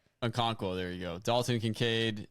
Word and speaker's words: Okonkwo: Okonkwo. Okonkwo, there you go.